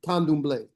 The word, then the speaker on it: Candomblé: pronounce it, Candomblé.